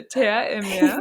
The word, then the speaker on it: Terre et Mer: So Terre et Mer.